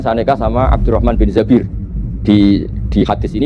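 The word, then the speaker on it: الزَّبِير: Kemudian saya nikah sama Abdurrahman bin Zabir. Di hadis ini bukan bacanya bukan Zubair tapi Zabir, Abdurrahman bin Zabir.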